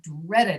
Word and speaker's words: dreaded: So you'll notice if you hear me pronounce these two sounds, fixed and dreaded, the last sound is coming from the letter D, but it sounds different in those two words.